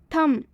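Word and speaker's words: thumb: थम, बहुत सारे स्टूडेंट्स गलती करते हैं इसमें, इसे थम ना पढ़कर इसे थंब पढ़ते हैं, जो कि इसका बिल्कुल गलत उच्चारण होता है। इसमें एम के बाद से बी आया हुआ है, इसलिए इसमें बी साइलेंट होगा। तो हम थंब ना पढ़ के हम थम पढ़ेंगे।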